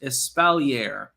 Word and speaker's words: espalier: apple tree thing is called espalier pronounced espalier ah okay i i